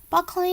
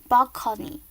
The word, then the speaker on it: broccoli: And he says, as if contemporary were not bad enough, broccoli makes me sick. The word is borrowed from Italian and it was pronounced bocconi.